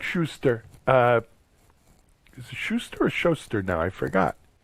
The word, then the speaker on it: Schuster: Is it Schuster or Schuster now? I forgot. How do you pronounce it? It's Schuster. Schuster. Schuster's with a U.